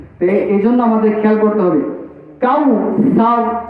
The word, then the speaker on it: কাউসার: জলি বলে নাউজুবিল্লাহ এজন্য আমাদের খেয়াল করতে হবে কাউসার কাউসার কাউসার কাউসার ইন্নাকাল কাউসার গুন্নাটা আরেকটু করতে